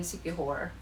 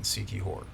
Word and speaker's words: Siquijor: really gonna like in Sikihor. So I didn't bring a lot of clothes. She said Sikihor, so that's spelled Siquijor, if I'm not mistaken. Sikihor.